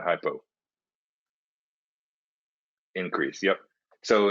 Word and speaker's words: hypo: Hypo rhymes with low, so an easy way to remember that.